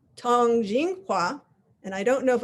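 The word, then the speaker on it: 通景画: is the topic of the day which is pronounced Tong Jing Hua and I don't know if I'll be able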